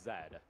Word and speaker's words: Z: it excuse me English in other places Z is pronounced Zed and I used to